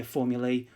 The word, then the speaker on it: formulae: formulas but we wouldn't say formulas we'd say formulae or types of formula and we'll have a